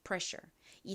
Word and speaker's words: pressure: pressure.이 단어는 뒷부분이 아니라 앞부분의 강세가 있어요.